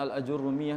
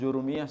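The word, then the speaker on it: al-Ājurrūmiyyah: Sehingga matan al-Ajurrumiyah namanya matan al-Ajurrumiyah, bukan matan jurumiyah sebagaimana kita sebut ya. Orang Indonesia kan penginnya tashhil ya, memudahkan pengucapan. Jadi al-Ajurrumiyah dibilang jurumiyah langsung. Padahal namanya aljurrumiyah. Karena yang nulis adalah Ibnu Aajurrum. Ibnu Ajurrum sehingga disebut sebagai al-Ajurrumiyah.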